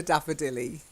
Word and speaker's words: daffodilly: fit to the rhyme it rhymes with lily so we'll call it a daffodilly okay and you said